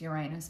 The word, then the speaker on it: Uranus: So Uranus, otherwise pronounced Uranus by some people, entered Gemini today.